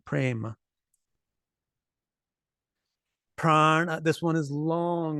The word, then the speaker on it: Prema: like this okay how do you pronounce Prema prime a e the a sound is long Prema pran this one is